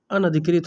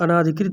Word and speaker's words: अनधिकृत: बहुत लोग अनाधिकृत बोलते हैं, जैसे हम लोग उच्चारण में क्या बोलते हैं? अनाधिकृत बोलते हैं, ठीक है? ना पर आ की मात्रा, जबकि ये वर्तनी के दृष्टिकोण से गलत है। क्या हो जाएगा? अनधिकृत हो जाएगा।